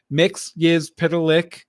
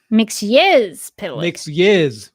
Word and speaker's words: Mxyzptlk: Mxyzptlk is the official pronunciation within the encyclopedia. So I mean, yes, not yes, Mxyz. Mxyz. Mxyzptlk.